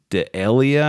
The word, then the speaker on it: D'Elia: So they brought in comedian Tig Notaro to replace comedian Chris D'Elia, I think is how his name's pronounced.